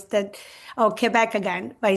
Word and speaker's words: Quebec: So, I used to say when I moved to the States, Quebec, and it's really Quebec because you do pronounce it in English.